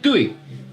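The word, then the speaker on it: Guéhi: Nottingham Forest signed former No, actually Gooey. Margay. Yes. Gooey. Yes. His actual pronunciation. Gooey.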